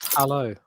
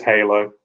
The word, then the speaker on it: Halo: I think it's pronounced hello. I think it's Halo. I think it's hello. Hello. No, the second L is silent. It's Halo.